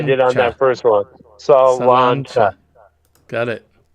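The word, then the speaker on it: sláinte: Yeah, but it's pronounced like I did on that first one. Salancha.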